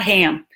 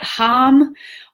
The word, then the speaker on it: hum: hum and a ham it's not ham it's like hum or hum kind of okay so be dream